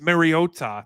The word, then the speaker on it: Mariota: What if I told you that behind Jaden Daniels 189B soaking wet ass was Marcus Mariota?